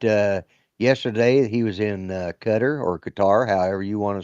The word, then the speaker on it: Qatar: Uh and then they got uh yesterday he was in Qatar or Qar, however you want to say it. Right. And uh he called it cutter and they didn't seem to want to behead him.